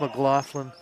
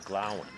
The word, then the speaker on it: McGlowan: We call it McGlowan. McGlowan. McGlowan. I know you can't see that there, and it's pronounced McLaughlin 50% of the time, but McGlowan.